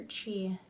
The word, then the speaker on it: Qi: I do need to actually look up what cultivator is, but they take ki energy. Is it ki or chi? Chi? It's QI.